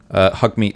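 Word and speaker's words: Jagmeet: got a new leader hug meet sing jug meet sing I fought I read on his Twitter he said it's pronounced hug me but I mean you've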